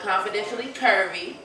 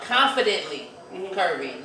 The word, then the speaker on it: Confidently Curvy: And you saying it wrong. It's confidently. Confidently. You make it like confidential, like it's a secret. Oh, okay. Like Check me, please. Confidently. So I'm confidently curvy, not confidentially.